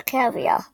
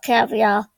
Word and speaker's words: Cavia: Not Cavia, Cavia.